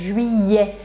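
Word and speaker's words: juillet: eu gosto de falar Julie e Júlia é só você pensar que esse final aqui é como se fosse a palavra E é em inglês Júlia Júlia aí foi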